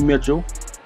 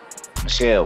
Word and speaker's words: Sony Michel: They got Sony Mitchell. Michelle, pronounce it right, man. Michelle. Oh, Sony Michelle. Hey, yeah, it's French.